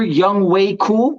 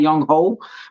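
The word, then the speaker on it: Younghoe Koo: Alex at my kicker, Young Way Cool. I found out that's how you pronounce it. It's not Young Ho.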